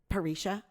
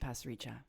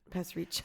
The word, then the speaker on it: Pasricha: he Canadian no no is it Neil parrisha no but it's pronounced Pasricha pass reach I learned that because